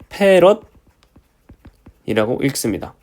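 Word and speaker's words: 패럿: 제가 아까 말씀을 안 드렸는데 커패시턴스의 단위는 F라고 쓰고요. 페럿이라고 읽습니다.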